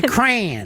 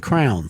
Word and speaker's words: crayon: Crayon. It's one syllable. Crayon. And that's weird because I grew up when we said crown. Crown. It was a crown.